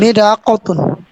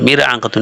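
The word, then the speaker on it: ملعقة: সঠিক উচ্চারণ করেন আকাতুন জি সঠিক উচ্চারণ করেন মিল আকাতুন মিল আকাতুন মির আকাতুন না মিল আকাতুন একটি জগ ইবরিকুন একটি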